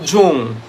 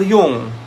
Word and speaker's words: Jung: do not say john we do not say carl jung we say carl jung it's jungian okay because carl jung is actually um i think um jung is um a swiss psychologist so that's how they say it they do not say carl jung we just say carl jung so under jungian perspective